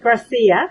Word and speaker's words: Gracia: Am I pronouncing your name right? Gracia.